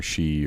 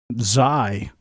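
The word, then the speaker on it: Xi: Or she or she or whatever gave in to America. Zai. Yeah, but it's pronounced she.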